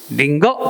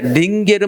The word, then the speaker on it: 링거: 대표인식 가운데는 링게르가 아니라 다 같이 링거 동그라미. 우리가 링거 맞는다 그래야지. 링게르 맞는다 하면 틀려. 링거.